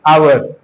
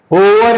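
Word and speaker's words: hour: पर क्या होता है य साइलेंट हो जाता है आवर ठीक है ना अब होवर नहीं कोई बोलता है ही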